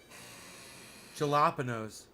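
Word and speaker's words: jalapeño: are you saying jalapeno the j is silent no it isn't did you like a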